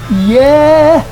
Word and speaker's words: Yeah: Yeah should rhyme with hair, where, there.